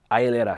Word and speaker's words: hieleras: Hieleras? Hieleras.